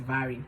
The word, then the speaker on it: Mhairi: This woman's name is actually spelled with an M, but she wrote the pronunciation. She said it's Mhairi. I think she's like Scottish or Irish, but I know she's British.